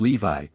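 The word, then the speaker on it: Lévis: ladies named mathan no Lis which was pronounced Levi cambis pronounced ambis these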